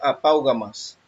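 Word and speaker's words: ἀπαύγασμα: Se pronuncia apaugamas.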